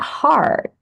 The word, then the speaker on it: heart: There is a difference between hurt meaning rasa sakit, terluka, menyakiti, terluka is hurt, menyakiti, to hurt, rasa sakit, hurt. And heart, hati, or jantung.